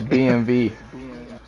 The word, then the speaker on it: BMW: It's BMV.